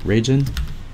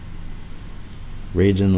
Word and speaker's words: Ragan: Ragan ragin ragin that is ragin yeah I'm gonna I'm gonna up your name I'm really sorry ragin like Kaden okay I'm gonna I'm